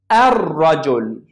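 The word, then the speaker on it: الرجل: Rajul. Ar-rajul. I didn't pronounce lam.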